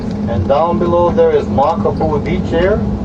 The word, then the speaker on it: Makapuu: And down below there is Makapuu Beach here. It's spelled M-A-K-A-P-U-U, pronounced Makapuu Beach.